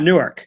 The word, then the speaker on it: Newark: a hey is Newark Delaware as shitty as Newark New Jersey it's pronounced Newark Delaware but weren't out in Maryland